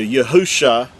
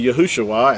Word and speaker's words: Yahusha: spelled with five letters which translates into yahusha and that's the original text now again with vowel points it's going to say yahushua and that's because they